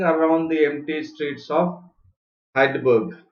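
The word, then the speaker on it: Heidelberg: the empty streets of hydaburg it's pronounced as hide work Germany to check on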